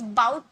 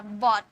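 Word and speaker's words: bought: No guys, बाउट नहीं बोला जाता, बॉट।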